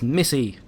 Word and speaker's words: Missy: It's Missy. Pronounce it correctly. There's a Y.